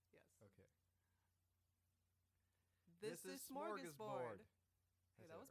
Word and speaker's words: Smörgåsbord: This is Smörgåsbord.